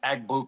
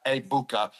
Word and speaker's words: Egbuka: I'm gonna go with I've been saying Egg Bua the whole time I was on Fox for the first two weeks, but now everyone told me the G is silent. So, a Mecha Abukah.